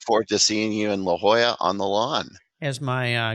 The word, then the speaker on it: La Jolla: I would always say how things in La Jala I don't Grandpa that's not how you say it he was of course